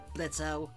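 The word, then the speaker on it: Blitzø: off blitzo hey you too MOX you know that o is silent I swear to Satan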